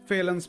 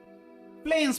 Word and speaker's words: Phelan: This is Silver and this is Phelan's place. If I'm saying it right, Flane's place. Not Phelan. Flane's place.